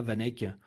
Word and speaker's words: VanEck: Voilà, c'est une boîte allemande qui fait ça, Vanek, qui est reconnue sur le sujet. Vous pouvez aller sur leur site, ça s'écrit VANECK.